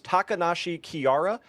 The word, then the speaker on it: Takanashi Kiara: ended video, and I apologize because I'm going to say this name wrong. It was Takanashi Kiara from Hololive Hey, you got it, bro.